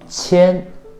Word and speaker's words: 千: And thousand is 千, 千 is first tone.